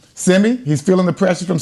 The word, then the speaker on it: Simi: You know, I think he's feeling that pressure from Simi. Did I say his name right? Yep. Simi.